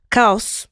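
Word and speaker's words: Caos: Newest album, Kaus. Kaus. You like how I said that? I love it. Okay. Did I do a good job? Yeah. Pronounced perfectly. Kaus.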